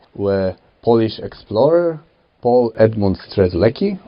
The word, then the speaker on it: Strzelecki: polish explorer paul edmund strzelecki or szczeletsky how we pronounce it climb the highest mountain